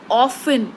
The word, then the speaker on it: often: L is silent what are the other words ofen o f t n t is silent psychology right p is silent one right